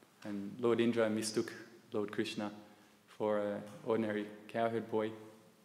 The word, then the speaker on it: Krishna: Krishna is the correct pronunciation, and Krishna is a wrong pronunciation. That's a long K is a wrong pronunciation. When you see the Krishna, there is no dash at the top of the A. But Ra is a long. So it's changing the meaning.